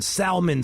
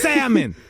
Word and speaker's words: salmon: the Italians don't panic quit pronouncing Salman Salman like a like you're black it's salmon the L is silent Asia she knows all